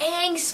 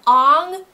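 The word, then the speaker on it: Aang: keep it minimum like they said Ang's name wrong they use the a sound of his name the a of a of of on instead of Ang I was like it's a not on was like I dealt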